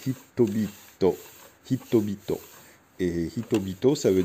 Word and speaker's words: HiTBiT: Et en japonais, ça se prononce Hitobito.